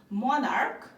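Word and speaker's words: monarch: করে পরিবর্তন করব আর যদি সি এইচ এর উচ্চারণ ক এর মত হয় তাহলে আমরা শুধুমাত্র এস যোগ করে প্লুরাল করতে পারবো যেমন এখানে এক্সাম্পল দিয়েছি আমি মনার্ক আর হচ্ছে স্টমাক সো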